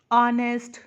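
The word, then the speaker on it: honest: से हो रहे हैं, लेकिन हेयर एच इज साइलेंट. वो चुप है, शांत है, उसकी साउंड नहीं आ रही है. ऑनर, आर, ऑनेस्ट, तो अ की साउंड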